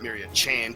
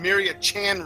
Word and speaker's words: Myriad Chan: I'm sorry, Myriad Chan, not Myriad Chain. It rhymes with train, though, so I guess that's why I said it. M-Pain Train and Myriad Chan race coming up next on this Jam Eviler channel.